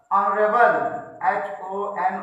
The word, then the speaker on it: honourable: और हम लोग यहाँ पे बोलते हैं, जैसे आ गया आपका ऑनरेबल, HONOURABLE, ऑनरेबल आ गया। ऑनरेबल में भी आप ध्यान दीजिएगा तो आ निकलता है, तो अक्सर एच